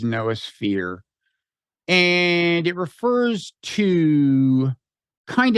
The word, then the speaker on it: noosphere: So it comes from the Greek nous, N-O-O-S, although in Greek, apparently it's pronounced nous. And some people pronounce it noosphere, but I think the official online automated pronunciation is noosphere.